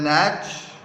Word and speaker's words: Nacht: वो कैरल था still नैच, NACHT, T silent है, प्रोनाउंसिएशन है नैच, स्टिल नैच, साइलेंट नाइट, इस भजन को गा रहे थे।